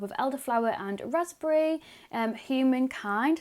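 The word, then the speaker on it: Humankind: elderflower and raspberry um human kind i think yeah human and kind that you pronounce it yeah human unkind so it says for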